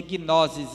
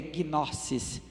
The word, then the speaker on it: gnosis: A gente pronuncia gnosis em português, porque o S entre vogais assume o som dizer, mas no grego é gnosis.